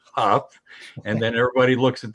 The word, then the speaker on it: Hough: You got Jordan, everybody pronounces it Hough, and it's Hough.